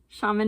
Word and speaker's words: Chamonix: Then shamanics. Shaman. You don't pronounce the X.